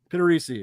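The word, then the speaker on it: Pittarese: I don't know how to pronounce his last name. I don't want to sound like an asshole. Frank Pittarisi. Pittarisi.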